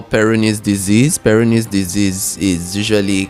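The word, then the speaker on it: Peyronie: I mean well um there's something we call peronis disease.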